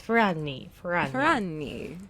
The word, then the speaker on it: Ferragni: I should have asked for someone to pronounce it for me. I know you have Italian links. Ferragni.